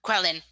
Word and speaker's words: Quellen: I know I said his name wrong. Quellen. Leon comes before Quellen.